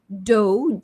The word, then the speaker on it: dough: We have dough, DOUGH, dough. When you make a donut, you use dough, DOUGH.